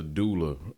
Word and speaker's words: doula: As a what, let me make sure I pronounce the term correctly. It's a doula.